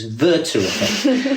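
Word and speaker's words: Werther: interesting point and it's um I'll correct your pronunciation, Hisha. It's it's German. It's Verter.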